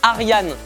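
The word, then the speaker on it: Arjen: municis jouont sans arien Roben à prononcer Arian mais ça s'écrit argen va savoir Roben c'est le joueur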